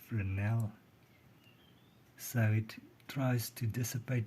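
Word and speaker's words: Fresnel: by the way learned that it's not a frasal lens it's pronounced frel so it tries to dissipate the he directly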